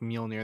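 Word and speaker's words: Mjölnir: just like in well, you do pronounce the J in Mjolnir. It's just like it's like a Y. Yeah. It's like so Mjolnir or something like that.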